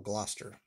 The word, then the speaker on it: Gloucester: the double double cluster double gloster that's how you pronounce that double gloucester cheese and a blouse